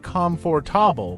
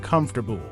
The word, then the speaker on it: comfortable: For example, I used to struggle with the word comfortable. I would say it slowly, like comfortable, but after shadowing native speakers, I learned that it's pronounced more like comfortable.